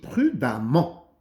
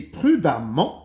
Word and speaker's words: prudemment: Il conduit prudemment. J'écris E et je prononce A.